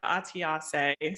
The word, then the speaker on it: Atiase: It is Atiase. So I know it's not an easy one to pronounce when you see it in writing.